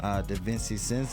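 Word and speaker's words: DiVincenzo: lines another guy can look into it Dante that Vincey sense though cuz that's how you pronounce his name 37 is too cheap one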